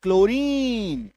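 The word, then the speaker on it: chlorine: बाद एल आ जाए जब किसी शब्द के शुरू में सीएच के बाद एल आ जाए तो भी हमारा सीएच का उच्चारण क होता है। सीए के बाद अगर एल आ गया तो भी उच्चारण क ही होगा। सी ये देखो सीएच एल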